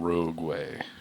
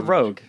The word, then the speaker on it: Rogue: I am driving a Nissan Rogueway. Rogueway. Is it? It's not a Rogueway. It's a Rogueway, right? Or it's a Rogue.